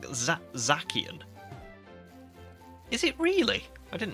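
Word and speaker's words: Zacian: Human says Zian is pronounced like Zach. What you mean? It's pronounced like Zakian.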